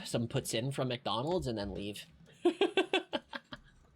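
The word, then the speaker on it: Putin: But if you pronounce it properly, puts in, you'll probably get some brownie points going across the border. It's kind of like saying puts in, like putting something in something else, like putting my water bottle in a backpack.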